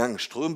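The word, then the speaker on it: Ångström: qui s'appelait donc angstrum sauf que en suédois le a avec le petit rond au-dessus ça se prononce o et donc normalement on devrait dire un nstrum mais comme en français tout le monde dit angstrum mais on va continuer à faire comme ça d'autant que ben c'est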